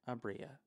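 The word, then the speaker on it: Aabria: Mike I can't oh wait wait wait wait pronounced the last one I do want to say uh what's Alaska abria abria okay I love her I love them so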